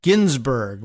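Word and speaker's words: Guinzburg: Amanda Ginsburgg, but spelled Gu U I N Z B U R G, but I think it's probably pronounced Ginsburg.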